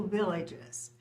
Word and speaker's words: Villages: Village and of course you don't pronounce the S at the end of a word in French the wines from a